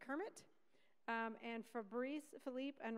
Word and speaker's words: CIRMMT: they tell me that the way to pronounce their Center is Kermit um and for Philipe